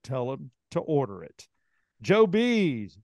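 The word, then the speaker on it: Joebees: them to order it Joe bees Joe bees uh it's spelled just like it sounds j-o-e-b-e-e-s and Joe B's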